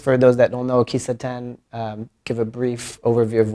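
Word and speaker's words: kissaten: And you often talk about these Japanese coffee houses, Kisaten, right? Am I pronouncing it right?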